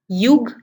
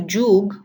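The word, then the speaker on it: যুগ: But if the ear is at the start of a word, then the sound of ear changes to ja. So here are some examples. Again, like the last time, the red alphabets are where the sounds are changing. So yagna becomes joggo, yagna to joggo, yash to josh, yug to jug, yuyutsu to jujutsu.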